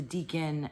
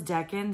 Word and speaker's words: decan: of all of the deacon sorry Deacon I looked it up on Google guys I looked up how to pronounce it and Google says Deccan so but you know